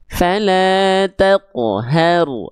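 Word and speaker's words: فلا تقهر: Karena yang kedua kurang tepat karena dia pantulannya tertahan. Jadi, kayak ada portalnya jadi ngerem, ngedadak gitu dia bacanya. Fala taqhar. Harusnya fala taqhar. Jangan sampai ee si qof sukunnya itu ada portalnya, ada ee tertahannya.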